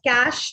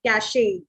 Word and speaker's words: cache: This is pronounced as cache, not cache, right?